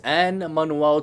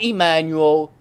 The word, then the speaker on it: Anne Manuel: my government name is anne manuel not emmanuel na na um the